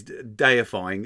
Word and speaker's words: deifying: 16 is deifying, as in to make something a deity. To deify, it is deifying. It's like, Deifying. There's only one word that rhymes with that, and the other one that rhymes with that, I was just like, good God, it's just as mystifying as deifying.